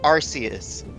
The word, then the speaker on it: Arceus: found the pronunciation for Arceus and I was correct by the pronunciation is a with a set not uh our key because it's not in the actual Japanese text and how it's pronounced